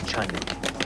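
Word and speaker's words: Cheonan: Welcome to Chunnan. It turns out that it's pronounced Chunnan. I just heard them say it on the train.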